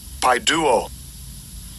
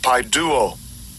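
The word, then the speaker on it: παιδεύω: And I'll give you a pronunciation of it. Strong's G3811. Paiduo. Paiduo. Paiduo.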